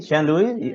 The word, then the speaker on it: Sealoui: Sealoui, did I say it right?